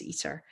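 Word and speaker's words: ITER: it um and um i-t-e-r but you pronounce eater and um yeah just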